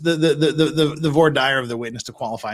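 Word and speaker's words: voir dire: as an expert uh and it's it's not pronounced Vader it's V dire and that's a ask anyone ask anyone from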